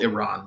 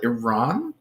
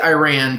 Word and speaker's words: Iran: their start in the modern day country of Iran it wasn't called Iran back then by the way I'm going to call it Iran you don't have to but you'll sound less